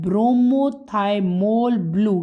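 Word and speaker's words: bromothymol blue: उसका नाम है ब्रोमोथाइमोल ब्लू। क्या नाम है? ब्रोमो थाइमोल। स्पेलिंग लिख लो आप लोग। मैं आप लोगों को लिखवा देती हूं। बी आर ओ एम ओ ब्रोमो बी आर ओ एम ओ थाईमोल टी एच वाई एम ओ एल दोबारा सुन लो ब्रोमोथाइमोल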